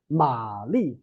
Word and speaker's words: 玛丽: Ma Li, right?